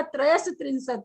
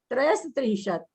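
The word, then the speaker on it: त्रयस्त्रिंशत्: त्रयत्रिंशत् कैसे होगा? त्रयस त्रिंशत् है, त्रयस त्रिंशत्। हाँ हाँ, श का उच्चारण आप नहीं कर रहे हो।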